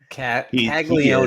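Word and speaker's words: Caglianone: Uh in terms of Jack Calone, Kagleion is how they pronounce it.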